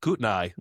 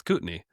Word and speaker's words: Kootenai: Instead of Kootenai, it's Kootenay.